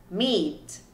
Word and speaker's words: meat: Então a primeira ali eu tenho big, big, cheap, cheap, meat, meat. Então como que você melhora a sua pronúncia?